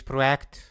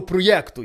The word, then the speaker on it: проєкт: характерами тому ти покидаєш проект назавжди Ну що ти думаєш на рахунок того всього проєкту Які твої враження Чесно кажучи я думаю чого ти постійно кажеш проєкт А не проект то якась правильна вимова чого то він ще